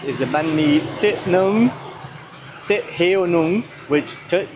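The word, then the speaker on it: nướng: You have to smile.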